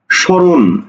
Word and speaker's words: স্মরণ: স্মৃতি, স্মৃতি, দেখো তো মফলার উচ্চারণ হয়েছে? হয়নি। সুতরাং এই জায়গাতে আমরা তার একটা স্মৃতি দিয়ে দিব। এবার আসো স্মরণ, স্মরণ, অক্ষর কয়টা?